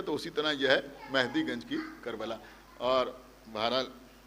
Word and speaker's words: مہدی: بر محمد وآل محمد۔ اور مہدی بھی نہیں ہے بلکہ مہدی ہے، صحیح لفظ جو ہے وہ ہے مہدی۔ تو اس سے آسان